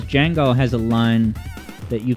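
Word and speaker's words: Django: type um EB says Jango has a line that you can quote on the top of your head and I I can name one it's um the D is silent Jango the D is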